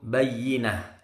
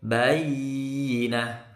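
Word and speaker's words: بيّنة: boleh lama-lama bacanya maka cukup Bayyinah tidak boleh bayi nah salah ya coba kita ulangi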